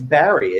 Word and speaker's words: Barre: It is Barry, isn't it? The way Yes, you it is. pronounce Yes, it is. I've been saying it for years, but every once in a while I hear someone say Gabe Barre. I guess they come from the ballet background.